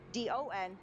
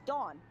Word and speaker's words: Don: But you're not pronouncing the W as much, I would call a person, a gentleman who used to be our supervisor in the department since retired, D-O-N, as Dawn. Like the O is so much shorter.